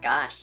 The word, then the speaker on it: gauche: That's pronounced gosh.